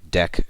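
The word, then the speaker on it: deque: figure 20.18 standard Library deck class template and again the name deck is sometimes pronounced deck as well now in this example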